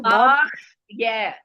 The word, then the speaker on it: बाह्य: பாக் pronounce பண்ணுங்க, நீங்க சொல்லுங்க மாமி, பாக்குற ஒரு இது பாஹ்ய பாஹ்ய பாக்ய அவ்வளவுதான், பாஹ்ய.